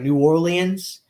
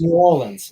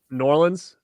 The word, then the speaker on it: New Orleans: pissed off if if anybody pronounces New Orleans in like three syllables like New Orleans like that's you'll get slapped like it's New Orleans it's really n-a-w-l-i-n-s New Orleans New Orleans so I